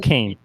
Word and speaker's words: Kane: Yeah, I think it's going to be a little bit closer than people might think, but it's pronounced Kane. Kane University.